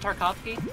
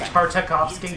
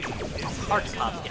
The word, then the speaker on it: Tartakovsky: Is that right, Tarkovsky? Yeah. I think it's Tartakovsky. Tartakovsky. I was like, I think I'm missing a syllable.